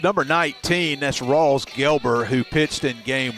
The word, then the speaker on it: Gelber: I think I was calling him Gilbert in Game 1.